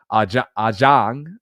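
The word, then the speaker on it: Hà Giang: there in the hills in a place called Ajang. It's spelled HA space GIANG, and they host what's called the Loop.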